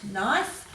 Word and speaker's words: knife: So here the E is making the previous I make its long sound, knife.